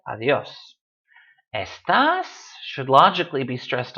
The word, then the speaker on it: adiós: Adiós ends in an S. It should be stressed on the A, but it's not, so we say adiós.